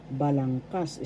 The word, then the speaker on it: balangkas: First syllable ba. Second syllable lang. Third syllable kas. Balangkas. The third syllable has the accent, so that's how you pronounce it. Balangkas.